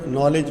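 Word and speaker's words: knowledge: जी इन the world नॉलेज which letter is not said. अब नॉलेज के अंदर कौन सा साइलेंट है? जी के साइलेंट है।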